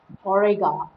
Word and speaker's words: Auriga: pencils and talls the constellation name orega is pronounced orega in english the constellation is known as chariot